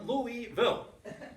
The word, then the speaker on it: Louisville: get this right whoa many people think there are three or four syllables in Louisville there are not there are two whoa so if I